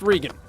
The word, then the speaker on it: Regan: it's spelled regan but pronounced regan will forgive you if